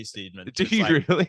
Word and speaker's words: Steedman: If not, give him a follow at Steedman, but spelt Steedman. Yeah, it's silly. It's two E's, Steedman.